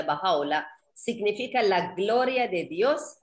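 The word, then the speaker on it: Bahá'u'lláh: doble l h que es baja ola se pronuncia bajado la significa la gloria de dios y es él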